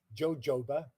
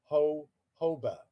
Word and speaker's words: jojoba: And the J is silent. So it isn't jojoba, it's jojoba.